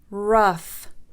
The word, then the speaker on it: rough: القاعدة العاشرة: إذا جاء حرف الجي يليه حرف الاتش فإنهما إما لا يلفظان أو يلفظان، وتلفظ بالفه. ف. So for the f sound, enough, enough. Cough, cough. Rough, rough.